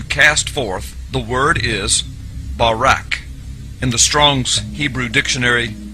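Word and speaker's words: בָּרָק: So lightning, or a flash of light, in Hebrew is pronounced barak or barak.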